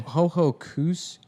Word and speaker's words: Ho-Ho-Kus: Hohokus? Yeah. Hohokus? Is that... Oh, yeah, because a lot of the AUKUS, Secaucus. Yeah, but it's spelled HO-HO-KUS.